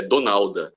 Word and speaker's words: Donalda: eh que na verdade a pronúncia certa até como eu falava desde criança é donalda porque é exatamente porque é o nome aportuguesado de de de Donald até porque é é